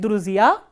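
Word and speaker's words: друзья: So, we have not dropped this soft sign, but if you look at Druzia, it has stress on the last syllable, which means on the last vowel ya.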